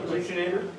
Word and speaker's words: buccinator: Does the buccinator extend above the?